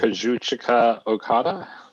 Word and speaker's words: Kazuchika Okada: Kazuchika Okada.